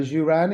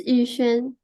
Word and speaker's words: Yuxuan: Yuran, is it? You can correct me if I'm wrong. I said it wrong last time. It's Yuxuan. Yuxuan, yes, there you go.